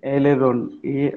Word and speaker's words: Aileron: তারপর হচ্ছে এলেরন, AILERON, এলেরন। তারপরে তারপর অ্যাজোনিক্স, AZO, ক্যালেরন বানানটা স্যার।